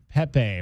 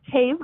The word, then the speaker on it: Pape: the name of Pepe. am I pronouncing your name right? Um, it's actually Pape, but honestly live in the Southwest, so I'll go by anything. Now, you said Pape. Yeah, like paper.